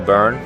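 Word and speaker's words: Burren: mother we drove around the burn which is spelled b-u-r-e-n I actually thought it was burn like what you do with a fire until I looked it up and yeah sure enough it's just the accent getting in my way again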